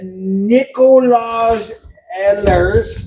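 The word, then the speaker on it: Nikolaj Ehlers: Oh, the the What I'm talking about is Nicolage Ellers. Thank you for pronouncing it right.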